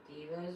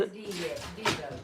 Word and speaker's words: DeVo: Devo's Woodcraft. D. His name is Devo. D-E-V-O. Yeah, DeVo is how you say it. Okay. DeVo, not Devo.